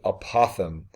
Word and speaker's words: apothem: first need to define this term called the pronounced the apothem and the apothem is basically a segment that